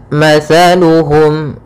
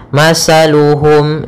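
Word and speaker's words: مثلهم: dulumatin la yubsirun pada bacaan matsaluhum di sini ada huruf tsaa makhrajnya yaitu dari ujung lidah kita ujung lidah menempel dengan gigi seri atas sehingga ketika pelafalan tsa Jangan sampai kita melafalkannya dengan masaluhum dengan huruf Sin hati-hati sering terjadi ya Yang Kesalahan adalah mengganti huruf ta dengan huruf Sin sehingga dibaca mataluhum tidak tapi dia t mataluhum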